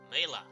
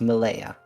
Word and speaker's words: Malaya: As at that moment, let's see if I pronounce it correctly. Mela. Is that correctly pronounced? No, it's Malaya.